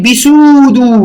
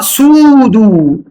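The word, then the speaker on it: pseudo: ما تقولش كلمه بيسودو، ما تقولش، ما بتتنطقش كده، بتتنطق سودو، معناها فولس يعني خاطئ.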